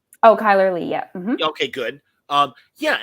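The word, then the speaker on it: Chyler Leigh: Supergirl's sister am I saying it right oh Kyler Lee yeah okay good um yeah and I and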